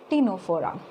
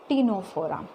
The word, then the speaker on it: Ctenophora: It is very small phylum, that is phylum Ctenophora. Here C is silent. Okay, how to pronounce Ctenophora?